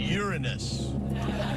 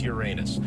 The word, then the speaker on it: Uranus: are jupiter neptune and uranus is how i think you're supposed to pronounce it yeah that's exactly how you pronounce it on abc a fool like me in which case it's uranus which i explained to